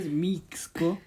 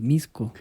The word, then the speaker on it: Mixco: Es que a ver, igual dijiste Mixco. Es Misco. Bueno, Entonces, entonces... ¿quién soy yo para...? Es que esa X es muy versátil en su pronunciación.